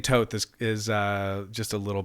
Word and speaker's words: Thoth: to know what is so tote is is where you is what you pronounce it as have you heard it in other ways oh i've heard it tohote thoth okay because i normally say thoth yeah that's like that's my favorite way to say it but um